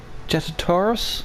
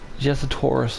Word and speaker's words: Jyuratodus: We will be hunting a monster known as a Jyuratodus, I believe is how it's pronounced. It's a bit of a strange name. Jyuratodus, I'm pretty sure is what they've said.